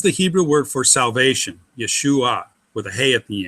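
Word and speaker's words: יְשׁוּעָה: All right, what we have here is YE is yeah, that's an open syllable. Shu, that's an open syllable. Then we have AH. Now that may look like an open syllable. It's actually a closed syllable because there's an I in there.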